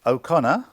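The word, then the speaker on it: O'Connor: How do you pronounce the name? Okay. Um, it's Okconor.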